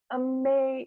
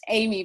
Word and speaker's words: Aimée: So you might think of it as Amy, but it's Aimee because it is the French pronunciation, which always tickles me, an English woman with a French name living in America.